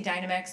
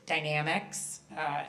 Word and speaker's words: Dynamex: Supreme Court case called, I like to say Dynamex, but it's Dynamics. Everyone's been saying it wrong forever. If you want to really seem like totally educated, you would call it Dynamics.